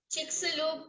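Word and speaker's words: Chicxulub: Shanti regional office okay here's you pronounce it chicku crater chicku crater say it again chickalo crater all right so that's how you pronounce it I I always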